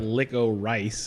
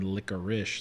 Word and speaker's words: licorice: idea well it's there's two ways to do it there's like licko rice and then licorice like that's hilarious there's yeah so